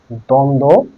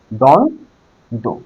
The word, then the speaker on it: দ্বন্দ্ব: বহুবৃহ আচ্ছা এটা মিছায়ে দেই দ্বন্দ বানানটা দেখো প্রথমে দয় বয় এখানে দন্ত নয় দয়